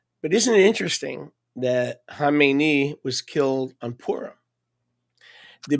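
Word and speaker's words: Khamenei: and by the way, people can't pronounce it. They say Kmeni. That's not Kmeni. Kmeni is the guy that he succeeded. Okay? It's Hamemeni. They Americans see a K and they go Kmeni. That's not Kmeni.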